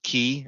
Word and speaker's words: Qi: I can say is call it key or it's spelled Qi um that looks kind